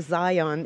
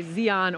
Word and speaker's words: Zion: yes nor Chicago because I keep saying Zion it's pronunciation I think it goes either way I've heard people say Zeon or Zion so I'm good then